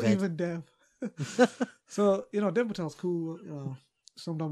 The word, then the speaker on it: Dev Patel: Isn't it Dev? Or Patel? Dev Patel. I don't know which way you pronounce his name. I thought you pronounced Dev or Dave. Dev, I don't know. Not Dave. It can be Dave if he likes. It's easy saying Dave Patel and it is Dev Patel.